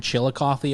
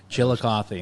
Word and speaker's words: Chillicothe: I used to live in Chillicothe, Ohio at one point in my life. And that's how you pronounce it? I've seen the spelling. It's it ends with a THE, right? Yeah. Chillicothe.